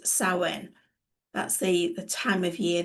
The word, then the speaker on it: Samhain: Historically, it stems from Celtic festivals and, it's pronounced as Samhain.